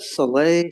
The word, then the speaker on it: Saleh: How do you pronounce that? Saleh.